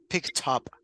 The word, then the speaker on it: picked up: Now, join the consonant and also the vowel with the pronunciation, and we say picked up. Yep, picked up. It is different if you say pick up or picked up.